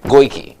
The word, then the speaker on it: Goyke: So we wanted to let everybody know how you pronounce your name. Goyke. Goyke.